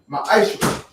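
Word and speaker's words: מעשר: Means 10th in the Hebrew, and it pronounced ma'aisha.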